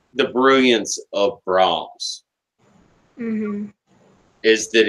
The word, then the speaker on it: Brahms: are playing a piece by Brahms and I was like wolf it's not brands anyways one of the